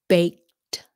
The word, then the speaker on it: baked: he lied to me bake becomes baked baked sounds like a t bait rule number three